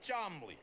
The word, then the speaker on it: Charmley: and this is my uncle Cham pronounced charmly hi I'm Rocky and